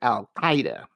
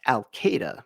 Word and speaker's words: al-Qaeda: And the beginning sound is not a K, but a Q, making this almost impossible to pronounce.